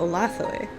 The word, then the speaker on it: Olathoe: Located on the plateau of Sarkia is the beautiful marble city of Olathoe (pronounced Oh-lah-thoh-eh’).